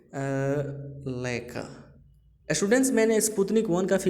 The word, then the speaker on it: Laika: जिसका नाम था स्टूडेंट्स लाइका। क्या स्टूडेंट्स? लाइका। लेकिन बहुत सारे स्टूडेंट्स इसको गलत प्रोनाउंसिएशंस करते हैं, लइका बोलते हैं। तो स्टूडेंट्स ये लइका नहीं होता है, लाइका होता है स्टूडेंट्स, ठीक है।